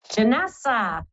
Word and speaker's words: Janessa: you thank you Kathy Janessa um rhymes with Vanessa hello Janessa hello how